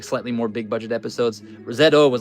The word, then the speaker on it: ZO: All right, so this is a 3 and 3/4 highly poseable Common Rider Zo Zo. It's pronounced Z O uh action figure.